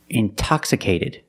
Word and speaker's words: intoxicated: or words like intensive intoxicated we have the stress after the NT we pronounce the T like a pure T TT release the sound